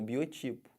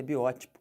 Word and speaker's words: biótipo: que fala isso biótipo o pessoal fala como Biotipo tá errado o certo é biótico aí eu sou um